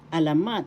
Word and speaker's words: alamat: Third example of panitican panitican literature in English is alamat excuse me please alamat first syllable a second syllable la third syllable mat the accent is in the third syllable alamat alamat in english